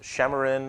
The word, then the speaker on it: Xamarin: xamarin so I think some pronounced Cameron or Chema in i'll call it xamarin microsoft acquired this company